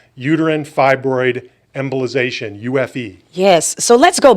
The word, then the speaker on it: uterine fibroid embolization: largest experience worldwide now in this procedure called Uterine Fibroid Embolization, UFE.